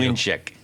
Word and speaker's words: Mlynczak: So it's Mwyn is how you say it in Mwyn, Polish. like a W. Mlynczak. Yeah, the actual character, there's like a Polish character. The L is not, Yeah, because When my